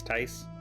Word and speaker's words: Tice: Is that how you pronounce it? Not Tiss, Tice? Nice, yes.